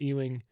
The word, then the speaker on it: Ewing: During a Syracuse Georgetown game the early 80s, Hoya star Patrick E-wing, I never know how to say his last name. Is it E-wing? You got it.